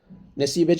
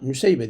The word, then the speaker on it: Nesibe: Haris künyesi ümm atiyed adını Nesibe CK anlamında nü seybe diye telaffuz edenler de vardır Medine'nin yerlilerinden olan bu